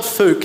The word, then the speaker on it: Fouke: Falk. Do you know? Give us a shout if you like to falk. Any falk heads out there? It's spelled Fouke, F-O-U-K-E, but apparently it's Fouke.